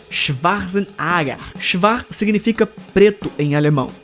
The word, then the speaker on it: Schwarzenegger: O que você talvez não saiba é que a pronúncia correta de seu sobrenome é Schwarzenegger.